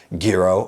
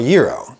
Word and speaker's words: gyro: Gyro or gyro.